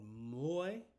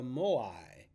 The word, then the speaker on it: moai: of the rapu culture um and they're called muy let me uh let me find out how to pronounce these things okay so one of the most iconic elements of the rapanui culture is the moai massive moai which is the huge Stone culture